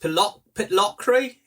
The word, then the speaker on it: Pitlochry: I think it's pronounced Pitlochry, is it?